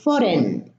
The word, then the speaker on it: foreign: But you notice that the G is preceded by an I and is pronounced as an I, but except in foreign, the EI, we have E, foreign, not ein.